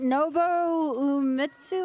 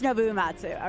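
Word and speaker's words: Uematsu: Is it Noitsu or something like that? I'm very bad with pronunciations. Yeah, it is Nouatsu.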